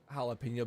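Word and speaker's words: jalapeño: it hurt my feelings you remember jalapeno being pronounced like star trek voyager aliens have no reason to know somebody's js are pronounced like h's oh i think i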